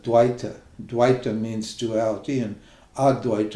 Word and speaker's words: dvaita: teachers these this modern dwight at dwight or advaita they call it they don't even pronounce it properly the actual pronunciation is that dwita dwight means duality and